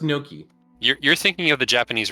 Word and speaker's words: gnocchi: Yeah, gnocchi. Nochian. Oh my god. It is pronounced gnocchi.